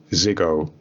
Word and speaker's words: Ziggo: and one of them being a company called Ziggo. Am I pronouncing that right? Yes, Okay. It's Ziggo.